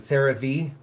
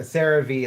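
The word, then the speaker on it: CeraVe: Sarah V or however you say it. I apparently like I've been saying it wrong. Um I heard a Tik Tok of somebody like correcting other people about how to say it.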